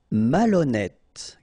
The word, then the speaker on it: malhonnête: Malhonnête. Okay, remember, H doesn't exist, so malhonnête. Don't insist on the final E.